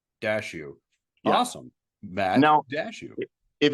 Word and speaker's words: Daciw: the last name uh dashu dashu awesome man no dashu if it's any consolation so the last name is Ukrainian if it's any consolation